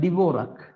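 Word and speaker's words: Dvorak: check it but there is another one called devorak d b o r a k right so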